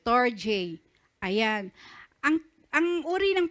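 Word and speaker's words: storge: storj love familial affection Okay pronounce as basahin niyo nga po St storj Ayan ang ang uri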